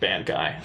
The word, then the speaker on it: Bankai: Well, my Bankai, it is pronounced Bankai for sure.